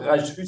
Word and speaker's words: Rajsfus: Donc, Rajfus, ça s'écrit Rajsfus, hein, Maurice Rajfus.